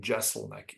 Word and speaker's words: Jeselnik: His name is Anthony Jeselnik, or I think Jeselnik is the way he pronounced it.